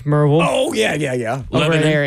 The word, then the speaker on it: Maryville: Well, you got Merville. Yeah. It's not Maryville. It's Merville.